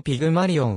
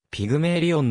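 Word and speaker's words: Pygmalion: の名前である原作のピグマリオンはピグマリオンとカタカナ表記されるが英語で発音すると木はピグメイリオんなので注意ピグマリオンはギリシャ神話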